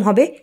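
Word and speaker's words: ה: Hebrew অর্থাৎ কাবালা বর্ণমালার পরবর্তীর letter হচ্ছে ইংরেজির এইচ কে নির্দেশ করে অর্থাৎ উচ্চারণ এরকম হবে হে হে আমরা যদি বলি এইচ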